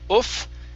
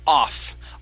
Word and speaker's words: off: boat boat good okay here instead of oof this is an ah sound off off a boat off